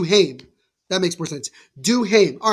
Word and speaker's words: Duhaime: How it's pronounced? Do him. Or it's do him. That makes more sense. Duhaime.